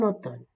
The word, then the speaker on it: automne: la dictée 2 en automne alors quand vous remarquez donc automne il est il s'écrit avec mn mais le M ne se prononce pas seulement le la lettre ne qui est prononcé la journée est encore